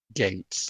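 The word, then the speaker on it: Gaetz: out well uh representative Gates and that's spelled g AE TZ I think from Florida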